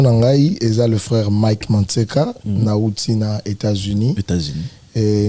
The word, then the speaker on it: Manseka: On a prononcé comme bien, Mantseka. On prononce très bien.